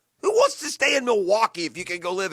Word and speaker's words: Milwaukee: very it's a very good place actually it's pronounced milwaukee which is algonquin for the good land very